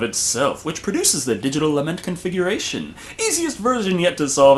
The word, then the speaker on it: Lament Configuration: And even if they did, I never opened the lamont configuration. Lament configuration. Oh, I'm pretty sure that's the proper pronunciation.